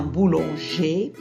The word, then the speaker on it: boulanger: Un boulanger au féminin, une boulangère. Alors le ER se prononce E au masculin, un boulanger, je ne prononce pas le R, sera au féminin, une boulangère.